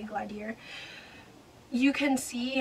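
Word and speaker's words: Glaedr: it through glad year i know the actual pronunciation is glader but i like to say gladiator you can see how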